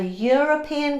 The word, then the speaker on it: European: A European country, it's written with an e, that it sounds like y, so it's a.